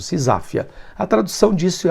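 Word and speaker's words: seisachtheia: lei, uma medida que ficou conhecido como SISafia. Sisafia. Você tá vendo aí na tela como é que se escreve essa palavra estranha, mas a pronúncia é essa mesmo, Sisáfia.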